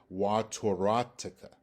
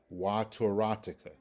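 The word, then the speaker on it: וְתוֹרָתְךָ: And again, it's pronounced wa toratica, toratica, wa toratica.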